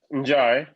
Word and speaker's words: Njai: Close. Njai. The Najar? N is silent.